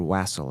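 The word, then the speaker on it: wassail: Here, have some have some was sail and be or wasel as some people pronounce it and be and and you know just blackout drunk.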